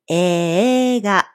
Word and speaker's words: 映画: When there is a sequence AE in spelling, we pronounce it AA. So, eiga is pronounced eega.